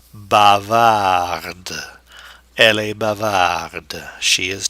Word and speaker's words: bavarde: Bavard, but now the E will force the pronunciation of the D. Bavarde.